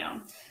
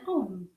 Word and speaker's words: Om: And then om. So it stimulates the entire respiratory tract. Is it something religious? If you're Hindu, it's 3 syllables if you want to break it down.